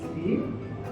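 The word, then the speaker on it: 鱼: Because in Chinese, the fish is yu, the same pronunciation with abundance.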